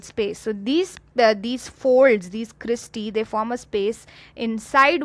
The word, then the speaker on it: cristae: So whenever E is present at the end, we pronounce it as E. So here we have a cristae.